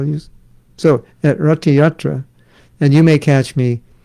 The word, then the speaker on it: Ratha Yatra: and so was maharish pratraparuja and so during ratayatra not yatra that's how it's pronounced it's not pronounced ratha yatra going to ratiate it's rata yatra of course